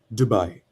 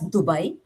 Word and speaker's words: Dubai: native proper Hindi pronunciation would be Kartavya, and the word, uh, the second word would be Dubai.